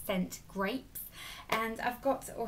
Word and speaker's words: St Grape: cool new brand called scent grapes and I've got or S grape am I pronouncing it yeah scent grape not sent grapes um but I've got